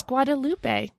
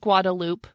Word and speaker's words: Guadalupe: you read it, you were like, that is Guadalupe. This is how Guadalupe is spelled all over the world. Yeah. Nope. Come to Austin. It's just Guadalupe.